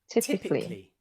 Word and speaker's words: typically: That is where we can see there is a silent A. We don't pronounce it. Okay? Repeat after me. Typically.